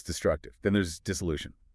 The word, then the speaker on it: dissolution: Then there's dissolution.